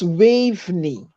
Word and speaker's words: Waveney: You're pronouncing the name wrong. If you look at it carefully, it's Waveney. That is how you pronounce it.